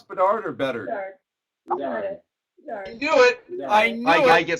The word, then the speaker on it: Bedard: Do you pronounce Bedard or better? Bedard.